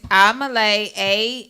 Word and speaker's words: Amelae: Spell it. What's the cash app, lamb chop? It's Amalay, AMELAE.